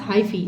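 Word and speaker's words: hyphae: सुनो all fungus accept east are made up of fine thread like hi-fi pronounced as हाइफी okay हाईफी some फंग fungi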